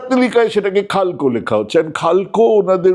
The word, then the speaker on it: Xalxo: খালকো ওনাদের উচ্চারণে এবং ওনাদের যেভাবে ওনারা বানানটা লিখছেন সেটা হচ্ছে XALXO, ভোটার তালিকায় সেটা চলে যাচ্ছে খালকো।